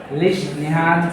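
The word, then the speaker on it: Lesch-Nyhan: called a लिन सिंड्रोमस लिश न syndrome spelling क्या सर उसका एल ई एस सी एच एन वाई ए ए लिश निहान syndrome L ए सी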